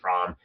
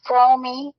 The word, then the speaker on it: Fromme: by that name but that's not the way your last name is pronounced and can you just say it for us right now the proper I mean I know it's fromy but can you just